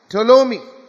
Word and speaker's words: Ptolemy: And the southern one went to Ptolemy. It's written as P-T-O-L-E-M-Y. The P is silent.